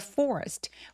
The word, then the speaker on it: forest: In the forest. forest 할 때 forest라고 L처럼 들리지 않게 R 발음은 뒤로 혀를 당겨서 r 이런 식으로 혀끝이 입천장에 닿지 않게 해주세요.